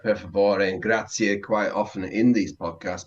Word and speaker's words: grazie: You do hear that E at the end, so E at the end, which a lot of people don't say.